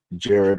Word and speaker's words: Jared: It's not J-Rod SEIJI, it's pronounced Jared with a D.